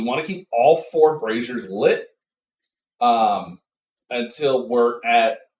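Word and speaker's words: brazier: sort of that indepth uh comprehensive guide It's pronounced brazer it's not braier that is something that ladies use to hold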